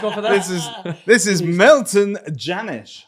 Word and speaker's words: Milton Jannusch: This is Milton Jannusch, right? I pronounced that correctly.